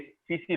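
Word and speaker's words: tsetse: हाँ सीसी फ्लाई, ये सीसी टीसी लिखते हैं ना, इसको सीसी पढ़ते हैं, सीसी फ्लाई, टी साइलेंट है, देयर कैरियर वेक्टर सीसी।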